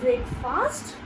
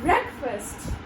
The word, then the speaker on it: breakfast: Well, is it breakfast or is it breakfast? Well, when you look at this word, the word fast makes you guess that the word fast, that is a separate word. So, but it is wrong.